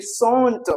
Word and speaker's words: sont: There is no change to say SONT. We do not use the T. Okay, we did not pronounce the T. So it's son.